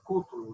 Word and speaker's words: Cútulo: Ok, então eu proponho que a gente inicie, a gente já tem a Aldirene e a Juliana Cútulo, né? Isso. Que é a forma correta de pronunciar, né?